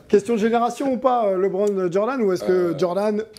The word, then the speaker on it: LeBron: prononciation du prénom de parce que ici a qui disent Libron et apparemment c'est pareil comment on dit toi qui côyé un peu les US personnellement j'aurais dit LeBron ok bravo g chaque